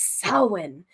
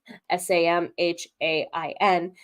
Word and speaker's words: Samhain: It's also, for those of us in the spiritual community, it's Samhain. It's not said Samhain, Samhain. It's Samhain or Samhain, depending on which pronunciation you decide. One's more Scotch Gaelic, one's more Irish Gaelic, is how someone once said it to me.